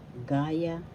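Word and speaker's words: gaya-gaya: Another example of reiteration or pag uulit is gaya gaya. That means duplicate or copy. First syllable ka second syllable. Yeah. The second syllable has the accent. Excuse me please. Gaya first syllable has the accent gaya.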